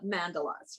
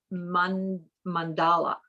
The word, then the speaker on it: mandala: call it anymore but we always call it mandalas right well i learned this week that it's pronounced mandala that's right mandala so you're going to hear